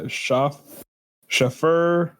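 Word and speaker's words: Schöfferhofer: Schafferhofer.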